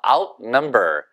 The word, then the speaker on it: outnumber: 그래서 outnumber. 그래서 아니면 outnumber. 다 좋습니다. out 강조해도 되고 number 강조해도 됩니다. 근데 number의 액센트가 있어요.